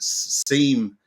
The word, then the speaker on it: SIEM: And because it's in Australia, we pronounce it Seam, so it's become SIEMonster.